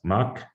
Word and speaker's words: Mach: german ancestors so essentially you call it mach if you're in europe but americans are usually unable to pronounce it so they call it mac like johan sebastian bach would also be called back in in american english well horrible but anyways